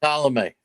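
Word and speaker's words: Colomé: It's Colome.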